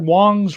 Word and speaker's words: Wong: So yeah, don't get your Wongs wrong, says Clint Richardson. Yeah. And it's, even though it's an A, it's pronounced Wong, not Wang. I believe it's pronounced Wong and not Wang, in fact.